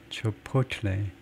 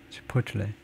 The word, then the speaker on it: Chipotle: 하여튼 have experienced 요 멕시칸 그 체인의 발음을 엉터리로 하고 지나갈 수는 없어서 저희가 찾아본 적이 있는데 치포틀레 두 번째 실러블에 액센트를 주네요. 치포틀레.